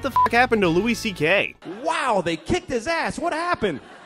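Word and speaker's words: Szekely: than his real name he goes by Louis CK because his name is Louis CK which is pronounced c k so he just changed his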